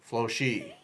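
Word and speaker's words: Floche: o CH e smoke I say flush as opposed to Flo core flock or Flo she Flo she I say Flo let's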